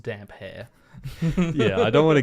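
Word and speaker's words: Damphair: in the live chat it is pronounced damp hair yeah I don't want to Gaslight everybody so so Aaron damper that's how it's pronounced damper and it's spelled d-a-m-p-h-a-i-r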